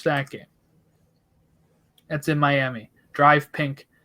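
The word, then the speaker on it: DRV PNK: game that's in miami drive pink stadium or actually drew stadium as it's spelled uh tomorrow on my birthday happy birthday yeah 30.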